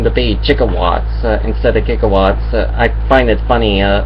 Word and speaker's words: gigawatts: is actually uh it's actually supposed to mean gigawatts not jigawatts but the the word